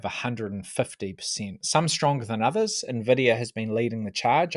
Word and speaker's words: NVIDIA: So the Magnificent Seven comprises chip maker NVIDIA, and you pronounce that NVIDIA. It's like it's got an invisible eye at the start. NVIDIA, you've got the tech behemoths, Microsoft, Apple, and Amazon.